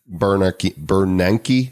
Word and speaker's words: Bernanke: hedge fund managers, former Federal Reserve Chairman, Ben Bernanke, that's how you pronounce it, right?